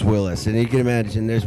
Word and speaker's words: Wyllys: Now, is it pronounced Willis or Willis? There's no. It's just Willis, and you can imagine there's been promoters, commercials.